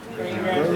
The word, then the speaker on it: Grignard: Grignard. This is a Grignard. Grignard? Is that spelled right? Grignard? Why do they call it Grignard? G silent.